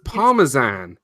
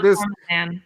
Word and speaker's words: Parmesan: Yeah, it's Parmesan. It's not Parmesan. Because if it's Parmesan, there needs to be an H.